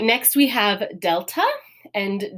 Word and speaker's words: delta: And delta is, in classical pronunciation, it's more of that D sound. I believe in modern Greek, it's more of a the. It's like a hard, almost TH sound, more so than a D.